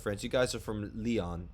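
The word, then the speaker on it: Lyon: you guys are from leon france right is that how you pronounce it right yeah yeah so uh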